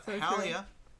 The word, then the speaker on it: Halia: jump over to uh halia her name rhymes with Spotify what's your favorite class if you see it slowly it's you see Spotify slowly it sounds like halia mhm try it now